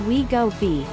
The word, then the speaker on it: Wegovy: has a risk of depression and pancreas inflammation wegovi pronounced we go b is a synthesized version of a gut hormone